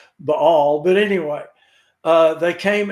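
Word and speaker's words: Baal: b-a-a-l a lot and that's actually and i'm trying really hard to pronounce it the way it's supposed to be pronounced it's the all and it's you know i've been pronouncing it bail for 40 years and and now i found out a few weeks ago that it's all but anyway uh they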